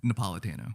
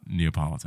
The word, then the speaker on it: Napolitano: pronounce her last name Napolitano so it's not Neapolitan it's not Neapolitan we